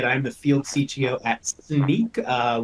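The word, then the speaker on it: Snyk: the field CTO at sneak uh which is pronounced like a pair of sneakers or sneaking around it's also an acronym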